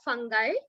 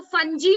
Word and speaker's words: fungi: Fungi, इसको fungi नहीं बोलोगे आप. This is fungi. Listen to my pronunciation and I'm going to ask you to remember this.